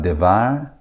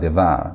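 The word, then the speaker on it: דְּבַר: And so you're going to have devar instead of davar. You're going to have devar, meaning word of.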